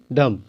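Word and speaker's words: dumb: कॉम डीओ एम बी डम तो दोस्तों इसमें जो बी है इसका उच्चारण मैं नहीं कर रहा हूं मैं क्या बोल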